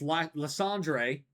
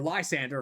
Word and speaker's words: Lysandre: Then, the second time you face it is against Lysandre, or Lysander, however you want to pronounce his name.